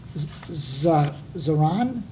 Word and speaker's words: Zaran: So Robin Zaran, is that correct the way I pronounce that? You got it.